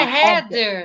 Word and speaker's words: Heather: é Heather.